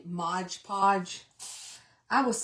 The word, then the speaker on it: Mod Podge: And you know how people say Modge Podge? I was saying that just to be funny, but somebody said that I sounded like a country hick saying Mod Podge Modge Podge.